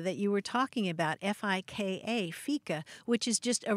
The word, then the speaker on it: fika: Socializing is key to fika.